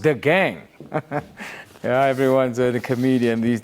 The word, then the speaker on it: Agang: Clinton says, Tweeps, it's not Agang DA, it's Dagang, pronounced the gang.